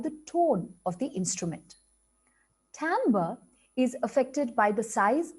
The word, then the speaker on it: timbre: instrument down the next concept is actually pronounced timbre and in simple terms